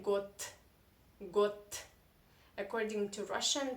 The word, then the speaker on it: год: this you should say got good according to russian pronunciation rules voiced consonants in the end of the russian sentence in the end of the russian word you should pronounce as non-voiced consonants so you do not